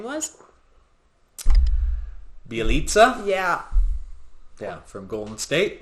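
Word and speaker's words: Bjelica: Bielitsa, Yeah. yeah, from Golden State. Yeah. Yeah. That was a crazy name. It's spelled Bajelica, but his last name is Bielitsa.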